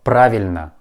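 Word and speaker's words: правильно: of this word but we pronounce this letter like ah praveen next phrase uh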